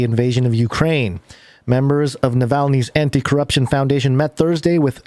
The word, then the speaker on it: Navalny: how you say it i said it yeah navalny oh yeah yeah yeah yeah samuel melanie's team